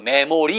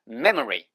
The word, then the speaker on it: memory: 이것도 메모리 이렇게 하지 마시고 memory memory처럼 발음하시면 돼요.